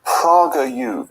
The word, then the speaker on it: PragerU: And what is PragerU? I've never heard of it. You're not familiar, Jacob. It's an educational channel that's been created by Dennis Prager, and it's conservative. It's PragerU rather than Prager. I've mispronounced.